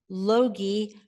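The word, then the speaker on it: Logie: is the David and Roberta Loi rhymes with hogi she gave me the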